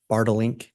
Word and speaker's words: Bartelink: And am I saying that correctly? It's Bartelink? You pronounced it perfectly.